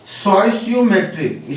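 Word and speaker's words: stoichiometric: इसमें पहला हमारा है स्टोइसियोमेट्रिक। स्टोइसियो लोग पढ़ते हैं लेकिन यहाँ टी साइलेंट होता है।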